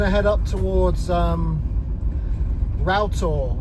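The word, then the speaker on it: Rough Tor: But a friend of mine uh pointed out that it's actually pronounced routtor, a bit like a router, you know, the uh tool that you use for carpentry, router.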